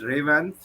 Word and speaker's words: Revanth: Well, the first name is Revanth. Um, Ray Revanth. Raven. Okay. Yes, it's a two-syllable word.